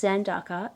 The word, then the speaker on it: Zandaka: But it's Zandaka, and it means balance in Japanese.